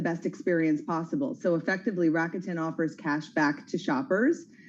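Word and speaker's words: Rakuten: this stuff I've now I've grown up saying rutin um but maybe it's raketen let's ask our next guest yeah let's do that Julie van ullen she's a chief Revenue officer for raketen who pronounces it right Julie rackton is the way to go all right well I've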